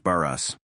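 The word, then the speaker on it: Barès: It is pronounced Baras.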